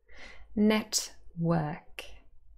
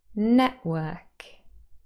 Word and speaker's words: network: is a labial consonant Network Network however an alternative pronunciation is Network Network and maybe you can hear the very sort of very sort of um quiet little sound in the middle now I'll say it